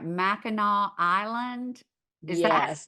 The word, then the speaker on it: Mackinac: Mackinac Island. Is that Yes. how you pronounce it, or Mackinac? It's Mackinac Island.